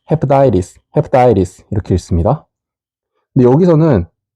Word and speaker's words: hepatitis: 그리고 발음 기호에 따라 읽어보면 hepatitis, hepatitis, hepatitis 이렇게 읽습니다.